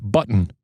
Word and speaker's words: button: I don't know. You don't really pronounce it either. Button. Well, you just button. Button. It's the stop. It's not. It's not hitting the. It's hitting the. Oh, button.